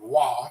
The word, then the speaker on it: Roy: example patrick roy and i call him rory not wah because it's spelt roy when he won the